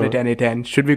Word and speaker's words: n8n: And I think the official way to pronounce it is now N8N, but it was Node Mation not too long ago.